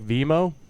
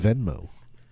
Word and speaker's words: Venmo: me um i mean you take vemmo i thought it's venmo it's venmo is it venmo see i don't even